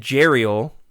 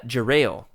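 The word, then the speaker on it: Jarael: I also realized that I've been pronouncing um I said Geriel.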